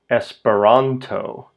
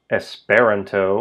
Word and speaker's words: Esperanto: Espironto. It's not espiranto or espiranto. It's espironto.